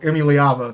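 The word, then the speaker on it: Iamaleava: Like when you see guys like Nico Emiliava, that's how you pronounce his name, Eddie Emiliava.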